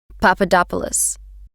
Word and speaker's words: Papadopoulos: yes how do you say your last name Papadopoulos do you go by any other names no